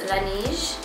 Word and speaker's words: Laneige: I think it's pronounced Laneige.